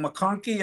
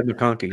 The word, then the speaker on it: McConkey: But I might get this name wrong. McConkey, I think, is possibly out. Yeah, McConkey, yeah.